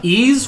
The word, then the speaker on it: Ys: that we're gonna play uh ease one and two uh spelled ys one of the most difficult to pronounce uh games oh here